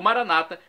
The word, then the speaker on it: Maranata: tônica na última sílaba, ou Maranata, como dizem nossos irmãos separados, os evangélicos ou protestantes, com a tônica na penúltima sílaba.